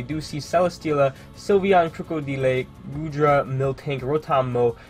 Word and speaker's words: Krookodile: comments about it yes I do know it's pronounced krookodile odelay just sounds so